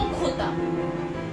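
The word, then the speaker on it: jota: I को ई, J को खोता। J को हमेशा प्रोनाउंस करते हैं स्पेनिश में ख से, हम इसको J से नहीं बोलेंगे।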